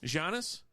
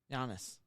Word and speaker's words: Giannis: plays for the Clippers jannis jannis Giannis Giannis look there's a g yeah but it's pronounced Giannis that's a y now